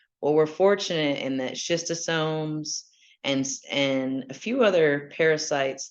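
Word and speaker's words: Schistosoma: parasites, such as I'm going to try to pronounce this, schizostoma. I got you covered. Okay. Schistosomes.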